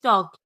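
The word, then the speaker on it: talk: जैसे टी ए एल के टॉक इसमें एल साइलेंट है।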